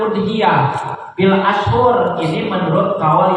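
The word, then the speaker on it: أضحية: Lafaz udhiyah bidomil hamzah, bukan adhiyah, bukan idhiyah, tapi dibacanya udhiyah. Ya, didomahkan hamzahnya udhiyah.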